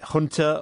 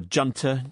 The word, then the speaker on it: junta: the country's military regime the junta or junta pick your pronunciation seized power on february